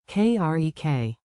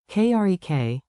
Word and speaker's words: керек: Clap the rhythm with me for a clean accent. Beat it out. Маған 2 beats. керек. 2 beats. Mаған. Krek. Whisper to loud drill. Mаған. Krek.